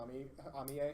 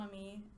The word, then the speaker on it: Amie: I hate when people say Pokemon Amie because it's supposed to be like Mon Ami.